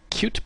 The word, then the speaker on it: Qt: It's spelled Qt, but it's pronounced Qt.